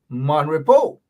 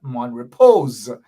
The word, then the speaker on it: Mon Repos: to describe this is mon repo mainly mind you mon repo and not mon repose the s is silent gosh i've become a